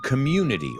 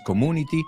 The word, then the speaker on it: community: Dos cosas, no es suburban, suburban New Jersey community. Otra, no es community, community.